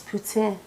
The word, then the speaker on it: poutine: I believe the proper pronunciation is poutine.